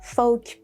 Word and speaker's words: folk: Sometimes when there is lf like in calf or the British pronunciation cough and then folk yoke.